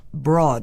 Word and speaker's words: Braud: bajo la conducción del Dr. William Broad, que se escribe Braud, un gran científico en